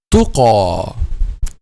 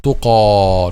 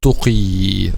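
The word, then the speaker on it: تقى: Okay, let's take the second example, which is tuqa. Okay, the same goes. It will be pronounced like alif. Tuqa, not tuqi. Tuqa.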